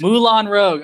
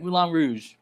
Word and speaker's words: Moulin Rouge: Moulin Rogue. All right, Moulin Rouge.